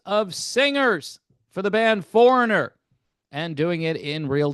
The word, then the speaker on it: Foreigner: I'm just going to talk about FURANER here. FURANER. Where'd that syllable go? You lost a syllable. Go find it.